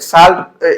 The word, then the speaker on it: salt: बच्चों यहाँ पे साल्ट, इसको पढ़ा जाता है सॉल्ट, और इसको जो लिखा जाता है SALT लिखा जाता है, साल्ट मतलब नमक होता है, लेकिन इसका एक्चुअल प्रोनाउंसिएशन होता है, करेक्ट प्रोनाउंसिएशन सॉल्ट। सॉल्ट मतलब इसको आप लोग साल्ट नहीं पढ़ सकते हो, ऐसे इसको पढ़ोगे हिंदी में साल्ट, तो ये गलत हो जाएगा, इसको पढ़ना है सॉल्ट।